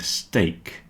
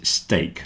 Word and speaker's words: steak: stake rhyme with cake break and steak rhyme with cake remember this is steak not stick it's steak